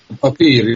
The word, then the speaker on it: Papier: Is it Papier? Papier, yeah. Well, Afrikaans is papier, so yeah, Papier.